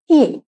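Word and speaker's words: へ: যেরকম আমরা particle what a কি পড়ি, হা লেখা হয় কিন্তু উচ্চারণটা হয় ওয়া, সেরকম পার্টিকেল এ লেখা হবে হে অক্ষর দিয়ে, কিন্তু আমরা পড়বো এটা সবসময় এ।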